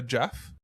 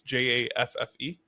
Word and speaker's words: Jaffe: know, it was Clementine by Sarah Jeff. Okay. I believe that's how you pronounce her last name. It's Jaffe.